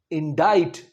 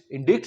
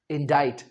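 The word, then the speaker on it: indict: इंडाइट इंडिक नहीं कहना क्या कहना है इंडाइट और इसे मगेज नहीं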